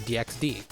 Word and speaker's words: DxD: nature of the anime it makes sense to call it High School Double D but many just call it High School DxD I personally go with high school DD as it has just less syllables and another thing I